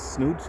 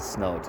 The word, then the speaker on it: snout: boob, booping my finger with his snoot, and with his snout is correct pronunciation.